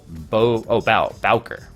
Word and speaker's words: Bowker: It's Bo, like you. Bowker. Okay. It's bow, like you bow down to someone.